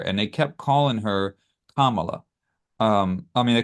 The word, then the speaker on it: Kamala: the other host they corrected her and said it's Kamala, and she's like, no, Kamala, and they're like, No, no, Kamala. and Yeah. then everybody in the table were like correcting her, like you're saying it wrong, and she's basically saying,